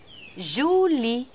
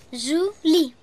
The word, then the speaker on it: Julie: Potreste esercitarvi un po' nella pronuncia del mio nome. Julie. Julie.